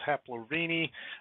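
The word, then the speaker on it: Haplorhini: so our haplorhine primates or the plural pronunciation is haplorvini um our haplorani primates include our old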